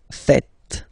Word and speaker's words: faites: It's vous faites. Vous faites. Okay? So remember, final S here is not pronounced, and then this E is not pronounced either.